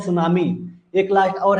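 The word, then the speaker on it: tsunami: एक लास्ट और है सुनामी। उसके बाद मेन मेड देखेंगे। सुनामी। सुनामी क्या होता है? जिसको टी से रिप्रेजेंट किया जाता है। ध्यान रखिएगा। एस यू नहीं होता है। टी साइलेंट है यहां पे।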